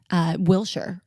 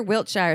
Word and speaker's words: Wiltshire: It's Kyer Wilshire. Wiltshire. I always say it wrong. Kyer Wiltshire.